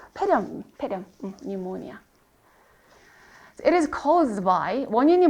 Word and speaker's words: pneumonia: 심각한 형태의 뭐 pneumonia 푸 발음 안 나요. 폐렴 pneumonia.